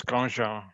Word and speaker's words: Grandjean: Grandjean? Am I pronouncing Grandjean? Yeah, I'm a quarter French, so it's Grandjean.